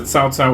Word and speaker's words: Cao Cao: Now, I think Cao Cao, you have to say Cao Cao to be correct in Chinese.